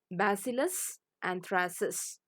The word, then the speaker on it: Bacillus anthracis: Say the name after me so that it is easy for you to pronounce and learn it. Bacillus anthracis.